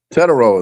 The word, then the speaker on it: Tetairoa: Tetairoa is how I pronounce it. Yeah, you call him it's Tetairoa. Yeah, it's like almost like Hispanic.